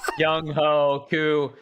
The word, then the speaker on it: Younghoe Koo: YoungHoe Koo, camp invitee and tried out.